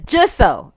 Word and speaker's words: Jisoe: It's Jisoe. Alright. I agree with Jisoe.